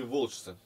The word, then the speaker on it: волчцы: Нет ни 30-кратного урожая и никакого, а есть только терния и волчцы. Волчцы. Волчцы. Посмотри где. Я сказал ударение делать на последнее, но не всегда.